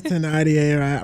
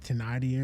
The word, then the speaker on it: Thénardier: It's French. It's Thénardier or something. I think it's Thénardier. Or is it? Wait, no. It's spelled with a TH, but French.